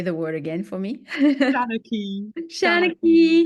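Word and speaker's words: seanchaí: And so, Eimear, your Senekai, I may pronounce this wrong. Please say the word again for me. Shanaki.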